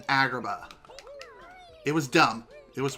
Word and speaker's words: Agrabah: as Agrabah no seriously they changed the pronunciation of Agrabah to algebra or something like that it sounds like he's saying algebra rather than Agrabah it was dumb it